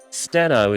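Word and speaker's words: Stheno: Stento is how we pronounce it.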